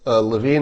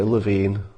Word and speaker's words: Levin: for the campaign okay Levine Levin am I still saying it wrong love-in I guess apparently I'm still pronouncing his name wrong I apologized to mark